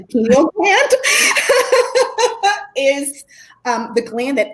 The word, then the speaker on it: pineal: you're getting yes um i always butcher this word because i want to pronounce it like another part of the body but the pineal gland is the gland